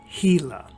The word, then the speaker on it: Gila: saguaro's thick stem a gila woodpecker now that word looks like another sound doesn't it but believe me it's pronounced gila a gila woodpecker packs a hole